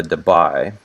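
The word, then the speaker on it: Debye: the actual measured units of polarity are the dubai and that's uh spelled like d-e-p-y-e-s as there all right and the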